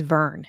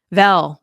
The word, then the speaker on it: Vel: I wanna say her name is Vern. Is it not Vern? Is it Vel? Vern? Vel, thank you. I don't know why I thought it was Vern. Hmm. Someone's name is Vern. Anyway, Vel.